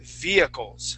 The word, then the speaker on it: vehicles: I have the word Vehicles okay so we wouldn't pronounce that H in the word uh we would more more pronounce the word like this okay so via vehicles vehicles try that please leet